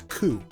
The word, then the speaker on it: COO: stamps are what is referred to as coo or country of origin which is sometimes pronounced as coup this is a basic